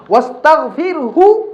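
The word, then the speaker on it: واستغفره: এই জায়গাটা খুবই কঠিন, এই জন্য অনেকে, যেমন আমি নিজে, এটা কঠিন জায়গা, এই জন্য ওয়াসল করে ফেলি যাতে হার উচ্চারণ ক্লিয়ার আসে। ওয়াস্তাগফিরহু ইন্নাহু কানা তাওয়াবা, কারণ রর পরে হাটা লাগাই দেওয়া এবং সাকিন অবস্থায় দেওয়া অনেক জটিল এবং কঠিন। এভাবে ওয়াস্তাগফির, ওয়াস্তাগফির, হার মধ্যে যেন হরকত না আসে, হা পেশ হু হতে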